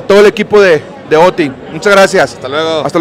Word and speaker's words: Oatey: Oti está bien.